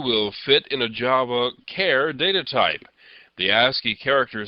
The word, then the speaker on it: char: The next data type is the char, or sometimes pronounced char.